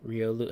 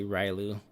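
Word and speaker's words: Riolu: like cute and right rio lu i always say it wrong i always say rylu but jj's always correcting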